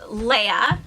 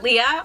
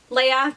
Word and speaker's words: Leia: My name is pronounced Leia, not Leah, although a lot of people call me that because that's just the way it looks and that's the common pronunciation of it. But yes, Leia, like the princess, sounds the same, spelled different, and not named after her.